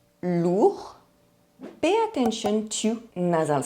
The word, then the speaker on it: lourd: The sound OU is the same as double O in the English word boot. Lourd.